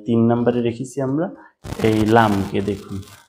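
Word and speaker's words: لام: Number তিন নাম্বারে রেখেছি জিহ্বার আগার কিনারা উপরে দাঁতের মারির সাথে লাগিয়ে লাম।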